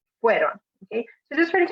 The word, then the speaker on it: fueron: So it's the first part, the first half, that should be the strong part in the pronunciation. So not fueron, with the second part being the strong part, but the start, fueron.